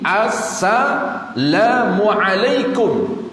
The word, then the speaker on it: Assalamualaikum: salam itu merujuk kepada tulisan alif lam SIM Assalamualaikum maka mesti diucapkan lengkap diri dia kalau syadah itu termasuk